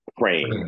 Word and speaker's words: Prem: my parents taught me, which is Prem. It's like frame with Prem. A P, yes.